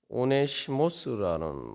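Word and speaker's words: Ὀνήσιμος: 그런데 요 오네시모라는 말이 오네시모스라는 말입니다. 그 원문상 발음이 이제 오네시모스인데, 그 이 오네시모스라는 말이, 오네시모라는 이름이 바로 이 오나이멘이라는 동사에서 나왔단 말이죠.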